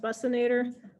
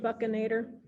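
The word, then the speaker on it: buccinator: even though it looks like it should be pronounced bustinator um it's pronounced buccanator uh the buccanator you can see along here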